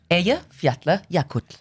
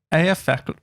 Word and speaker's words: Eyjafjallajökull: So, it's Eyjafjallajökull. Say that one more time, please. long. It's like sort of 25 letters and it's all vowels. Can you say it again? Eyjafjallajökull. Eyjafjallajökull.